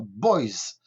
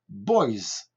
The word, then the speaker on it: boys: Mais ce S n'est pas muet, il se prononce comme un Z, d'accord? Un Z. Donc, si nous disons des garçons, enfin garçons au pluriel, on va dire boys, boys, boys, d'accord?